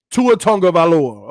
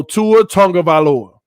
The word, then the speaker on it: Tagovailoa: Tongue, so say tongue. Tua Tagovailoa. Okay, if that's right. No, you saying it wrong, TD. So Tua Tagovailoa. So tongue is the key.